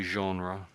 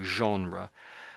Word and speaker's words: genre: I think this is something like genre. I think you said I think most people say genre. So it's sort of like that's that's closer to the French way.